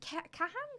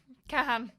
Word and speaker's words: Kahan: Noah, is it Kahan? Noah Kahan. Season of the Sticks. Kahan.